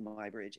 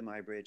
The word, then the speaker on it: Muybridge: were talking about my bridge and my bridge is spelled m-u-y bridge and just about everybody in the arts knows who my bridge is and you can see way down here